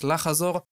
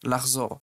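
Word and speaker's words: לחזור: So this verb can be pronounced as lachazor, but 99% of Israelis pronounce it as lachzor, and this verb is to come back.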